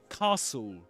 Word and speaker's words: castle: So look at that word castle. And did you know that in the word castle you don't pronounce the t? You don't say castle but castle.